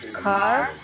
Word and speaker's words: car: For example, most Americans pronounce the R in the word car, but most Britons do not.